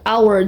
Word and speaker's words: hour: Ini emang tulisan H, dia bukan, dia konsonan, tapi bacanya hour, jadi pakai n, bukan pakai e, tapi pakai n.